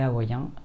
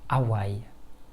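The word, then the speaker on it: Hawaiʻi: Si on demande à plusieurs personnes françaises de lire ce terme, la plupart répondraient Hawaï. C'est d'ailleurs la façon dont je le dis dans cette vidéo. En fait, c'est loin d'être la meilleure prononciation. Si l'on veut se rapprocher de la prononciation la plus naturelle possible, il faudrait plutôt dire Hawaï.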